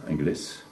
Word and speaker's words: Engles: Donc ça se prononce Ingles. Normalement, au départ, en occitan, on prononcerait le S qui est à la fin.